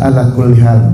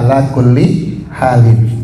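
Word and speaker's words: على كل حال: Nah, saya sering lihat orang-orang kalau misalkan ngucapin maksudnya alhamdulillah ala kullial. Makanya nanya ada musibah apa. Jadi kalau ada sesuatu yang tidak menyenangkan bacanya alhamdulillah ala kulli halin.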